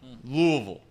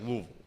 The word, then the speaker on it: Louisville: But I do know it's supposed to be like Louisville. Like you're almost like got marbles in your mouth or something along those lines.